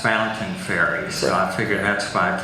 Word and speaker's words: Fontaine Ferry: acceptable but it it's usually it's always been pronounced fountaining fairy so I figure that's why Tony Landon wi